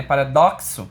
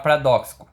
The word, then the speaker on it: paradoxo: Porque o X aqui, ele tem som de K, né? Paradoxo, KS, paradoxo. E às vezes a gente acaba falando a impressão que a gente está aumentando a palavra paradoxo, né?